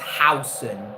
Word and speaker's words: Huijsen: It's pronounced Housen.